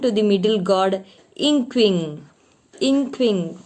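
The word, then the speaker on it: Nquing: Inkwing. Pronounce it like that.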